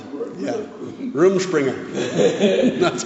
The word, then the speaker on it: Rumspringa: Yeah, Rumspringa. That's how you pronounce it.